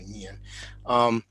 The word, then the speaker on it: Nguyen: I think actually in this case, you don't pronounce the G, so Nguyen.